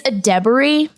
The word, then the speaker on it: Edebiri: Yeah, well, okay, I'm going to say one thing that is it's Edebiri.